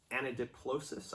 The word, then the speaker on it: anadiplosis: Anadiplosis, I believe is how it's pronounced.